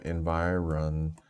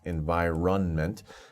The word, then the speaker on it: environment: the environment in which the plants grow up environment notice how i pronounce environment to for spelling n m but don't pronounce